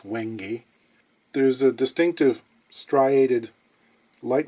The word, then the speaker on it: wenge: someone say it, you might be tempted to pronounce it as wenge. It's not wenge, it's wenge.